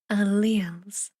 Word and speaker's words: alleles: Oh, Gunsey says you pronounce that alleles.